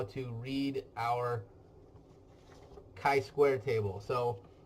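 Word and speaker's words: chi: how to read our Kai Square table so it's Kai not chai Kai rhymes with guy I Square table so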